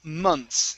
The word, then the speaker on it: months: Uh next up we have the word uh months Now months Months here Okay So we're not